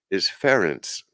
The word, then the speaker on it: Ferenc: His first name is Ferenc. I guess rhymes with Terrence, maybe.